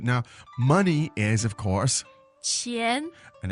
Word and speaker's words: 钱: So the question was, 要多少钱？要多少钱 Good. Now, money is, of course, 钱 and that's the second tone, right?